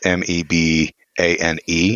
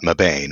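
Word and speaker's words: Mebane: say it right meban even though it's m e b a n it is not meban it's meban North Carolina visiting Aunt Len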